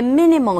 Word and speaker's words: minimal: 이 be destructive to 하게 되면 뭐뭇에 해로운, 뭐뭇에 유해한이라는 뜻이 되겠고 여기 minimal이라는 단어도 minimal 발음했을 때 minimal 첫 번째 음절에 강세가 있어서 minimal 최소의 아주 극미한이라는 뜻으로